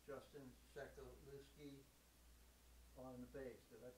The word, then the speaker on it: Sewkewleski: It's Justin Sewkewleski on the bass. Did I pronounce it right?